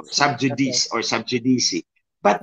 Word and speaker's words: sub judice: subj sub judice o sub judice or sub jdc but it's a latin word J in Latin is pronounced y and when c is in Between Two vowels It's ch so it's pronounced saud